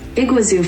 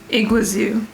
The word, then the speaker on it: Iguazu: first we need to figure out how to pronounce this iguazu false iguazu i was close british pronunciation it's in south